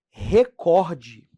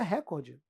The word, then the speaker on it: recorde: Ó, pronúncia correta. Recorde. Felipe, não é recorde?